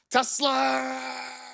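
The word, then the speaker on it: TeSlaa: You have to say it like Kendrick Lamar saying mustard. It's Tesla.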